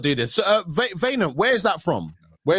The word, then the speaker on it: Wynand: Wynand. Oh, okay. Wynand. So it's like vein.